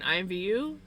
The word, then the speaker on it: IMVU: It's all capital letters, so I would spell it out as capital letters.